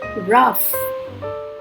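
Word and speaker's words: rough: कभी कभी GH से फ की भी आवाज आती है, जैसे लाफ, रफ।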